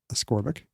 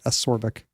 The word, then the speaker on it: ascorbic: you know it comes it's the opposite of scorc things it's ascorbic so maybe ascorbic is right yeah ascorbic here's a dictionary that has it as ascorbic there you go I've been saying it wrong when I say acorbic well so he becomes